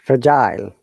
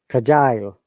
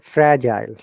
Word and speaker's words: fragile: Yeah, we said fragile. We stress on G. Fragile. They say fragile.